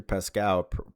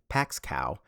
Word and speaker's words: Pascow: Ellie specifically mentions Victor Pascow mispronouncing his name Paxcow.